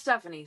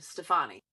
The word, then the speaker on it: Stefani: Not pronounced Stephanie. Stefani.